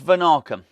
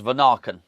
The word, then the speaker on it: Vanaken: I think that is how we pronounce it. I've settled on that, really. I think I've listened to enough commentary to hear them say the words Vanaken. There's no R in it.